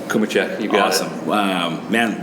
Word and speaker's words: Cumicek: Am I pronouncing that right? Cumicek.